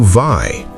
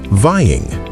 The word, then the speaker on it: vie: Let's pronounce it to vi. And the past tense is vi. When we add an ing, it changes to vying, just like the verbs to lie and die.